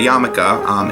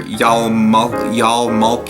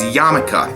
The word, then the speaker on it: yarmulke: yarmulke and tell you that is how you say yarmulke. It's not yarmulke or yalmulki or yalmilky. I've heard it a lot of different ways, but it is yarmulke.